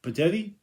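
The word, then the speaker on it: Petitti: new Commish Tony uh how you say his name petite patetti like Teddy's how you pronounce it uh he was up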